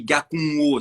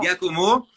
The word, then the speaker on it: Gakomo: Puis en fait, ça se dit Gakumo. C'est vraiment une prononciation un peu particulière. Puis j'arrivais pas. Enfin bref, j'ai un peu simplifié ça en Giacomo.